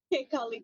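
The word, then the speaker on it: Kekaulike: And Erin, what is the other one that I never can pronounce? King Kekoliki? Kekolike, yes, perfect.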